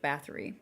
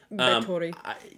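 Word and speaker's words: Báthory: there also like the female vampire, like Elizabeth Bathory?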